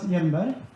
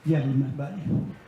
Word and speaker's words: Hjelmberg: As you can see here, my name is Hjelmberg. That J in name confuses a lot of nationalities. So, but pronounce it like a Y, Hjelmberg.